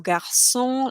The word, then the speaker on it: garçon: Then the C with the little S on the bottom is always pronounced as S. So garçon, laisson, façon, so like a soft S.